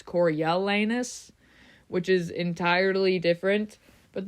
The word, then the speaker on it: Coriolanus: If you say it how it's spelled, it's Coriolanus, 5 syllables. But I also noticed a lot of Coriolanus, 4 syllables, which makes sense.